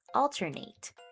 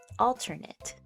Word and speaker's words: alternate: eight at the end, alternate. And when we're talking about the noun or the adjective, we would pronounce it more of an IT sound at the end, alternate, alternate.